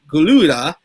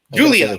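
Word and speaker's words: Giulia: from Slam and Sammy Joe saying, waiting for Guluda to make her American debut. I probably said that wrong. I'm bad at pronouncing things in this episode. So sound it out for me in the comments. Julia.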